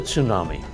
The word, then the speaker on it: tsunami: It's a Japanese word and it starts with a Japanese sound. Tsu. So a T sound quickly followed by S. Tsu, tsu. Then na, then me.